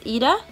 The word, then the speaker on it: Ida: I've been all kinds of weird versions of Ida, but you pronounce my name E-D-A, so Ida.